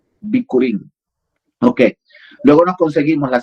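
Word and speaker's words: bikurin: Luego así no se escribe curín con B alta, hija y con K. Bicurín. Bicurín. B alta i k u r i n. Bicurín.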